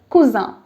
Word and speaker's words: cousin: french it's different so your male cousin is kusa and your female cousin is cuisine cuisine this